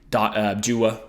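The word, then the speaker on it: Dewar: But, as the time goes on, I really do hope we start getting Dua, who's definitely pronounced Dua. I found out in the most recent Eagles podcast, it's Dua, and his nickname is Diwa.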